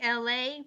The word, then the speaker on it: Elay: Hi, it's me, LA, pronounced like LA like the city.